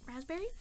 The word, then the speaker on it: raspberry: some gargoyle is Razz raspberry with like the silent P which I always get messed up on and they've got more